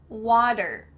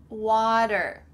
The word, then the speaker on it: water: Make sure that that T has changed to a D, like we've already talked about, water.